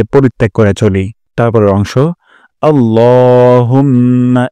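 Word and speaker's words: اللهم: করে চলি তারপরের অংশ আল্লাহুম্মা এখানে লক আলিফ টান দিব লা বলবো না ল উচ্চারণ করব আল্লাহুম্মা হে আল্লাহ তারপর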